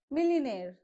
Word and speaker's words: millionaire: next air millionaire okay it is millionaire millionaire right so you have to stress on nair so this is how